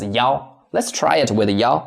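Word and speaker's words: 幺: That's why I mark with four red arrow here because for this number one, we can't read it as e. We need to read it as yao.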